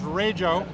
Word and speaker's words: Rajo: It's a Rojo 4 valve, which is one of the first of the Rajos should pronounce if you're an afficionado. It's Rayjo, right?